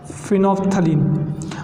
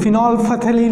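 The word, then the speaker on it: phenolphthalein: अब यहाँ पर ध्यान रखना, जब हम स्पेलिंग लिखेंगे तो उसमें फिनॉल है पहले, बाद में थैलीन है, तो इसमें एल और पी एच, एल पी एच, फिनोफ्थलीन बोलते हैं, फिनॉल फथेलीन में नहीं बोलते। ठीक, तो प्रोनाउंसिएशन में याद रखना, दैट इज फिनोफ्थलीन।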